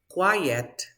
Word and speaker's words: quiet: a difficult word too we say quite listen quite kilo white quiet quiet so you are yellow you